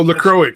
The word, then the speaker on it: LaCroix: That's not how you pronounce that. You and your fucking white people water. That is not how you pronounce that, Stabby. I mean, that's how it's supposed to be pronounced. What I'm saying is that is not how you pronounce it. Oh, LaCroix. My bad. I forgot. I think you guys finally made enough fun of me that I actually somehow, like, remembered how you actually say it.